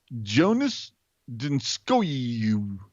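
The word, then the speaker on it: Joonas Donskoi: So capital JOE hyphen NISS. And then the second name is going to be lowercase DUN hyphen SCOEY. You know, Jonas Dinskoy.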